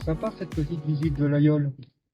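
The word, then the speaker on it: Laguiole: Donc on dit l'ayol, on ne prononce pas le G en avyon.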